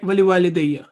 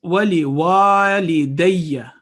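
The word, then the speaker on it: ولوالدي: Again, most of the times we hear wali walidayya, wali walidayya. It's wali walidayya because there is an alif. It will elongate the sound of wa 2 seconds.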